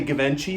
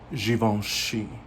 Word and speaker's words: Givenchy: givenchy and um or some people say givenchy the ones that don't know how to pronounce it but it's given she okay and i love